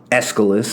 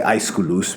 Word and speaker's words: Aeschylus: these great guys, Aeschylus, Aeschylus, as some people say, but I say Aeschylus because that's a bit closer to the proper pronunciation.